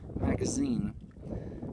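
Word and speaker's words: магазин: to the to the left of it it's pronounced magazine um which is they work for shop the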